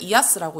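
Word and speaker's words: IaaS: 가 있습니다 근데 이제 ils 를 이아 쓰라고 읽고 마이 아스 라고도 읽어요 예 2 제이하스 같은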